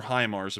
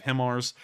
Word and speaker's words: HIMARS: being sent over and i'm finally calling them highmars instead of himars because i've seen a lot of people saying it's pronounced that way and i'm going to give on that one and pronounce it as high mars but we've seen an